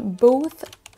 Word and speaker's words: both: dit la phrase on both sides of the Atlantic attention on a le mot both ou là c'est un son th both et ensuite le mot